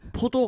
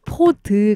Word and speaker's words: 포드: 그때 개봉했던 연도인 발음을 좀 주의해 주세요. 포도 감독님이 아니고 존 포드 감독님.